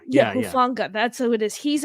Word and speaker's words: Hufanga: Hufwaga, I think is how you say his name. Yeah, Hufanga. Yeah. Hufanga.